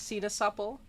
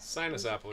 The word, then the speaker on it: sinaasappel: It's in Dutch, it's sinaasappel. But sinus apple. It's spelled sinus apple.